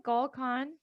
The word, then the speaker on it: Gull Khan: And today I have a very special guest with me, Gull Khan. Did I pronounce that right? Gull Khan?